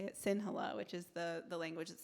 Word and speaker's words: Sinhala: It's how you say it, Sinhala, which is the language that Sinhalese people speak.